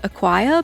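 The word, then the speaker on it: Aquire: But the font I landed on is called Acquire, but it's spelled without the C. It's just a Q U I R E.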